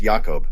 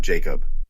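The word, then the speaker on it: Jakob: against the Braves with yakob Yunis starting for the Reds and Spencer schwellenbach taking the mound for the Braves don't be fooled by the name it's pronounced yakob not Jacob Eunice will be representing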